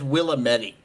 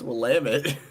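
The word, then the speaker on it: Willamette: will it's it I hear it as Willetti a lot and I'm like how it's it's lamit one of my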